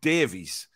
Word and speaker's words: Davies: It's Davies.